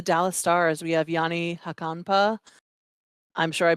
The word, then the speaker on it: Hakanpää: No, Yanni, it's call me. Hockenpod. You were almost dead Hockenpod. on. Yeah, you were almost dead on. I put the wrong emphasis on the wrong syllable.